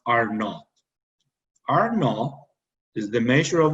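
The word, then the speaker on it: R₀: It's known as the basic reproduction number, denoted as a R with a small subscript 0 and pronounced R0.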